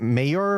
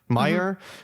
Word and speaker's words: Meijer: Yeah, and they've only been spotted at is it Mayer? M-E-G-I-E-R? Oh, Meijer. How do you pronounce it? Meyer, but hopefully they'll go nationwide soon.